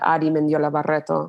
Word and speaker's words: Adi Mendiola Barreto: And so much of me finding my voice was saying my name how it was supposed to be said, Adi Mendiola Barreto, right?